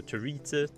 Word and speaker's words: Territa: Territa, wait, I always pronounce it wrong. It's like graffiti but with a T, so Territa.